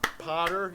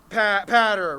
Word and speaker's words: Patter: Okay, so it's like ladder, but patter, right?